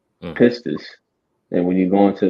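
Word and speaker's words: πίστις: All right, it's a commodity, but that word faith, um, I believe it's pronounced pistis, pistis, and when you go into that word, it basically goes into conviction, right?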